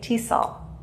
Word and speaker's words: TESOL: so we just say tesol that's called an acronym letters that are pronounced as a word but with elt english